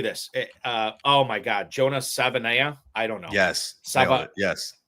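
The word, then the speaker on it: Savaiinaea: Oh my God, Jonas Savanaya. I don't know. Yes. Yes. Savianaya is what it is. Savianaya. You will not go to @Justin_Redwords on X for pronunciations of offensive linemen.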